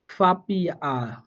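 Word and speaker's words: Papier: করে ই যদি পান, তখন আপনি এই এর উচ্চারণটা আয়ের মতো করে করবেন, অর্থাৎ স্বরে আয়ের মতো করে উচ্চারণ হবে। এই যে আমি একটা উদাহরণ দিচ্ছি আপনাকে, দেখেন উদাহরণ হবে ফাপিয়া, মনে করেন ফি এ ফি আই ই আর, ফাপিয়া।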